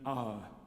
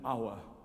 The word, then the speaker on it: hour: What would be nicer and more beautiful would be to sing da and ah. I mean, it's not my language or my pronunciation of English, but it's more beautiful than singing dower and hour.